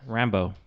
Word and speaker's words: Rambeau: Is that that's a Rambo. Rambo? Like Rambo. Like Rambo, but that's not spelled like Rambo. I know, but then that's how they said it in the movie.